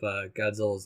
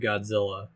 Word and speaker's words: Godzilla: creative team who suggested Godzilla because it was closer to the Japanese pronunciation, because it's like a DZA sound, not a J.